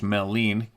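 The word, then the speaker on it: Maligne: There is mythology of malign pronounced melene canyon in Jasper National Park being the location of a great underground cavern system that would house little people.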